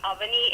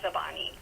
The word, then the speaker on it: Avani: The main lead, the protagonist, her name is Abani, which actually means Avani in Sanskrit. But the Nepalis pronounce Avani as Abani.